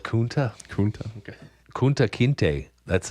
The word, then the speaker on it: Kunta: I like your second pronunciation better. We're going to go with Kunta.